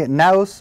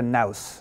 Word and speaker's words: Naos: Let us begin our tour with the, I'm going to call it a NAOS. I'm going to call it NAOS because it rhymes with mouse.